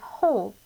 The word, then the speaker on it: whole: a whole pizza whole so there's actually a silent w at the beginning so i want you